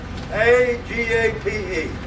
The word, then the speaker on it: agape: It's spelled this way. A-G-A-P-E.